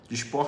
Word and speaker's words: Dysport: Dysport se escreve com DY Port, com T mudo no final.